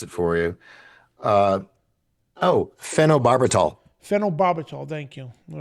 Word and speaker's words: phenobarbital: again, his wife, Donna, who was given this phenidibro, I can't pronounce it right, phenobarbital oral.